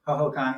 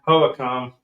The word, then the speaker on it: Hohokam: Well, that could be another way to look at, if you see this thing grabbing, is it pronounced Hohokam? Hohokam, yeah. Hohokam.